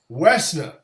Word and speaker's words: Woessner: No O. The O is silent, dog. Woessner.